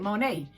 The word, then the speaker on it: Money: is money m-o-n-e-y but that pronounced it monet but it's spelled m-o-n-e-y okay diamond money okay